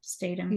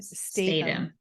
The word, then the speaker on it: Statham: I mean, when you look at Lyle, played by Seth Green, and Handsome Rob, played by Jason is it Statham? No, Statham. Yeah, Statham.